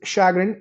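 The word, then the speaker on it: chagrin: It's it's it's shagrin. It's it's pronounced the same way in both British and American uh uh spoken language.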